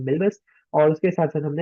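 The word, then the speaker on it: Milvus: हमने जो है एम्बेडिंग सीखी, और उसके साथ साथ हमने जो है मालवियस सीखा, जिसका जो वो करेक्ट प्रोनाउंसिएशन है वो है मिलबस।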